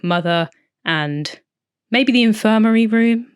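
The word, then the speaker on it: MU-TH-UR: It's spelled Muthur, I believe, Mother.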